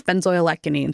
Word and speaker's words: benzoylecgonine: Okay, so we've looked up the pronunciation, everyone. It's benzoylecgonine, so I was very close.